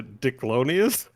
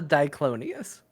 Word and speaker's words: Diclonius: human known as a dicklonius is that real are they it's not pronounced that way but yes dick well it says dick it's called the diclonius diclonius does it have